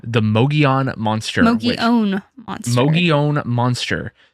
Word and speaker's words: Mogollon: Mogollon monster, not the Mogollon monster, no matter how it's spelled, because my brain wants to say Mogollon every time I read it.